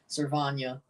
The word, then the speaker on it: Servania: surprise me one bit Sylvania or servania I'm getting used to that other pronunciation somebody told me last game cervania which I mean makes sense oh nice nice Iowa